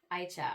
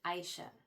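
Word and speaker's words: Aïcha: So I have been pronouncing it wrong. It is Aisha, not Aicha.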